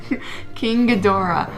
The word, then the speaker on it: Ghidorah: King I'm phonetically challenged. Sarah? King Ghidorah.